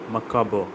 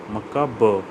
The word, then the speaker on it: macabre: Pronunciation is macabre, macabre, macabre. RE is silent, macabre.